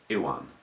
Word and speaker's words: Iwan: But it's like the name Iwan McGregor, or Ewan McGregor as people anglicise it.